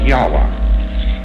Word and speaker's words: Yahweh: So Lord knows how this word is to be pronounced, but more agreed upon pronunciation among scholars so they can talk about it is Yahweh.